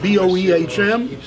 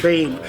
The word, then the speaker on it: Boehm: Hey everybody, I got my friend over here, Christian Boehm, and that's spelled B-O-E-H-M. And a few people who can't pronounce B-O-E-H-M, it's not Boehm, like I always say, it's Bame.